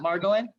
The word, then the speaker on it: Margolin: and comics uh jerry margolin am i pronouncing your last name correctly jerry is it margo in that's it you got it correct awesome um he if